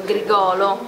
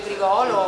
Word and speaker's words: Grigolo: E ci sono delle collaborazioni importanti come quelle di David Garrett e Vittorio Grigolo, pronunciato sì, con l'accento. Vittorio ci tiene molto il suo cognome, beh, Vittorio Grigolo, una voce meravigliosa, l'erede di Pavarotti, un grandissimo